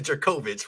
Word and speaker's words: Jurkovic: Boston College went 3-9 last year, but Jurkovic, as we talked about, transferred out. Moorhead, huh? His name is Jerkovich, bro.